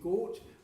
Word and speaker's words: Gort: I'll stick with Gort, which is one syllable.